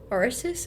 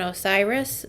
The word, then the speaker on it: Osiris: known as also the god of death like orsus I can't say his name correctly Osiris Osiris thank you yeah um but those two